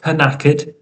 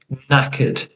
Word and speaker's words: knackered: Okay, and as we said before at the start of the presentation, we do have a silent letter here, something to be careful with. So not knackered, just knackered.